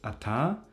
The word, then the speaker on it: ata: We have one which is pronounced as ata and these two are also almost the same in gig and tusk.